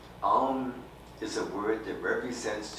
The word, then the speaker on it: Aum: universe, and that's the peak experience of chanting Aum." And he called it the four element syllable, the four element syllable.